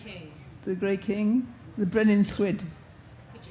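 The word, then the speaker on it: Brenin Llwyd: You have to put your tongue behind your front teeth and blow around the sides of it, so it comes out Thwyd.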